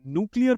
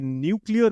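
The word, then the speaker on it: nuclear: Well let me tell you, अगर आप इसे न्यूक्लियर पढ़ते हैं तो वो भी सही है, और अगर आप बहुत ही क्लियर होकर इसे न्यूक्लियर पढ़ते हैं तो वो भी सही है।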